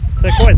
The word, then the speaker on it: turquoise: Turquoise. The S is silent.